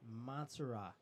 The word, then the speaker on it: Matsura: Charlie, I failed to pronounce Sergey's last name right. It's Matsura, the transfer from Serbia. So Sergey Matsura.